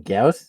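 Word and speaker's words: Gyaos: Gauss?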